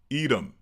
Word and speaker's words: Edom: Well, in English, we pronounce it edom.